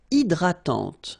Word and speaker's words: hydratante: Une crème hydratante. So remember, H is not existing, and then this Y is pronounced like I. Hydratante. Okay, don't insist on the final E, and this is nasal.